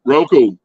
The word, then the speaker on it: Roku: How do you say it? Roku.